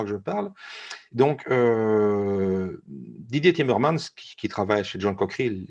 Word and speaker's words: Timmermans: Timmermans, Didier Timmermans, si je prononce bien son nom.